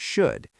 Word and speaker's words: should: No, the L in should is 100% silent.